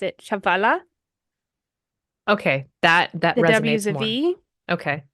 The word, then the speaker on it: Chihuahua: on how to pronounce the name they actually pronounced it chavala okay that that okay right um but my